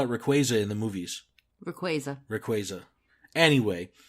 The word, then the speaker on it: Rayquaza: Rayquaza. It's Rayquaza. It's Rayquaza. Rayquaza. The Y is silent.